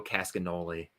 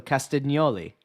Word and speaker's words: Castagnoli: So and GN in Italian makes that nya sound. So Castagnoli.